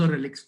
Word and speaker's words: relique: the books of poetry, the spelling is RELIQUE. Okay, एक archaic touch यानी पुराना touch देने की कोशिश स्पेलिंग में कई जगह की गई है, लेकिन एक्चुअल स्पेलिंग रेलिक ही होती है.